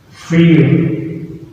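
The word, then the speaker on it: فيل: In Arabic we pronounce it feel.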